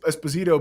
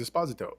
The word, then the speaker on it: Esposito: you know well because everyone used to say Esposito but I heard him in an interview say his name is Esposito and I was like